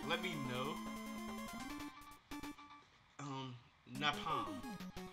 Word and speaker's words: Napalm: Napalm. Oh, like palm trees.